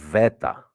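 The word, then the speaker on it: βήτα: the Ala MH and the beta is pronounced V Veta VA you forget the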